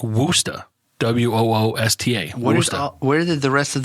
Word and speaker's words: Worcester: It's pronounced like WOOSTA, like Worcester, right? No, it's WORCESTER. That's correct. No H, but it's pronounced like Worcester. WOOSTA.